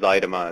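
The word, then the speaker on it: Zuidema: And for anybody wondering, it's pronounced Zaidema. It's a wacky Dutch name where they throw a U in where it's unnecessary.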